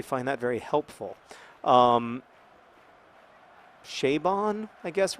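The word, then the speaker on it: Chabon: Kavalier and clay by Michael shaven or Chevonne or however you say it he always says it rhymes with radon but I don't actually find that very helpful um che bond I guess rhymes with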